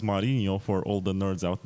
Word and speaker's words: Marino: presidential debates and I'm join joined by Marino it's actually pronounced marinho for all the Nerds out there and he's